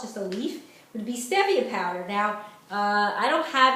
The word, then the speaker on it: stevia: Now the problem that people don't know is stevia is very sweet, and it's pronounced stevia, not stevia.